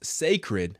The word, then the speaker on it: Cécred: The beauty brand pronounced Cécred has been 6 years in the making.